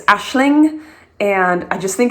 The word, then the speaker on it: Aisling: Number 6 for a girl is an Irish name, and it's pronounced different than it's spelled. It's Aisling, and I just think it's beautiful.